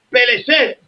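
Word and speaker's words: פלשת: Si supieras lo que significa Palestina, no cantaras ese himno, porque la palabra Palestina viene de una palabra que se pronuncia Peleshet y de Palash, que lo que significa es un revolcado en el suelo, pedazo de ignorante.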